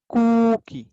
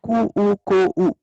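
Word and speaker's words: くうこう: इसका प्रोनाउंसिएशन होगा कू को, नॉट कू ऊ को ऊ, कू को।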